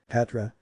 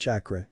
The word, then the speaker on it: chakra: find out do you know what chakra is Katra Naruto was very excited if this Katra thing